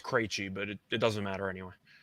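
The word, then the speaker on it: Krejčí: I don't either, but I'm pretty sure it's pronounced Krejci, just based on hockey. Okay. For the Pacers, they are on a back-to-back. They played the Penguins, not Penguins. I got you in hockey mode. Yeah, I know. You just said it, and it put me dead in. I'm just saying, mode. David Krejci's been around for a long time. It's pronounced Krejci, so I'm assuming it's pronounced the same way.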